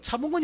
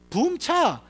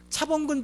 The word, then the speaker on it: 차범근: 그래서 독일 발음은 이게 붐근차입니다. 붐근차.